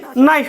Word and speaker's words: knife: उसको यहां ये नहीं पता था कि ये के है जो साइलेंट है, ये क्या नहीं बोलना, उसे नाइफ बोलना है।